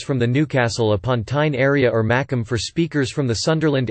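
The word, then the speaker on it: Mackem: However, a Macomb would pronounce make to rhyme with mac or tack, hence the origin of the term Macomb.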